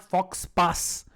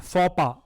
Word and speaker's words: faux pas: Now this is something which you may have heard, and it's not fox pass. It means it is pronounced faux pas.